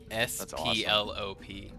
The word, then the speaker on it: Splop: S P L O P.